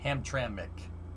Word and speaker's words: Hamtramck: which is on the north side of detroit hamtramck that's what that's how you say it's polish